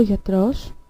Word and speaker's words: γιατρός: So, ο άνθρωπος, which means the human, ο γιατρός, which means the doctor. So, as we can see, ο άνθρωπος has an accent on the first syllable, but ο γιατρός has an accent on the last syllable.